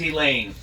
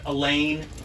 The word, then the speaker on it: Elayne: in they'll be shaking her name was elaine not a lane or a line it was spelled with a y and not an i and if you said it wrong she would correct you immediately she had serious skills